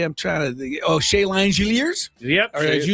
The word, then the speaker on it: Langeliers: Some of the other things that happened today, I'm trying to Oh, Shea Langeliers? Yep. Langeliers. to say, Langeliers. That's how you pronounce it.